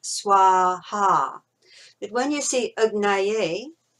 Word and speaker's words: Swaha: And then when you see Swaha, you see the accent on top. That means that the A is a long, open ah sound, Swaha.